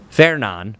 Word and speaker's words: Fernand: Fernan is how you pronounce that one.